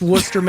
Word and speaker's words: Worcester: It's Worcester. It's Worcester, Mass. All over. I mean, if you look at Worcester, you're like, oh, I've never been to however they spell it.